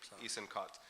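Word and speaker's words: Eisenkot: Chief got the SC I can't pronounce his name no it's e-i-s-e-n-k-o-t eastern caught explained this isn't a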